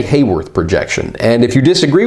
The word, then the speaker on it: Haworth: filming of these videos I got paranoid about how I was pronouncing Haworth projection and it turns out you could also say how worth or worth or any number of different things I'm gonna say Hayworth action